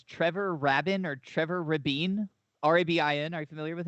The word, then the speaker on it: Trevor Rabin: trevor robin or trevor rabine r-a-b-i-n are you familiar with it i think it's pronounced raven raven okay whatever r-a-b-i-n